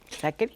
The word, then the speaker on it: Sacheri: Eduardo Saccheri, se pronuncia así con Che, pero se pronuncia con C, Saccheri.